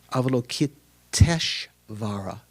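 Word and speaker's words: Avalokiteshvara: So sort of aokitesh vara instead of aokita and ishvara. The A and the I the end ending A and the first I combine together to become E.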